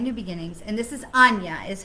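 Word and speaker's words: Aine: beginnings and this is anya is how her name is pronounced a i n e but it's pronounced anya and it says when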